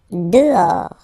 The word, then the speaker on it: dehors: Dehors. Okay, so remember, final S not pronounced, and then this H in French doesn't exist phonetically, so you don't pronounce it.